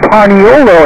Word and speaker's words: paniolo: were Spanish-speaking from Mexico Hawaii shouldn't pronounce the word espanol there's no es pronunciation so they kept saying paniolo instead in the name eventually